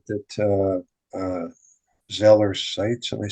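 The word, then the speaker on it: Zoller Seitz: um it's funny that the stuff you said that Zeller Sites, am I saying it right? Matthew Zeller. Matt Zoller Sites, yeah.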